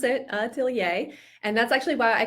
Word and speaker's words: atelier: is ntier now that we know how to pronounce it aier and that's actually why I called the boot